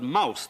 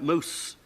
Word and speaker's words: mouse: And this word mouse that had been pronounced moose, at that point, began to change to something like mose. It was working down to mouse, you see.